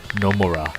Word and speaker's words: Nomura: It's Nomura. Looks. You should say it with an accent on the first syllable.